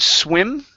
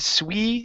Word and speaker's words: swim: go to the word swim right here instead of swe swim okay give me a short I just to swim just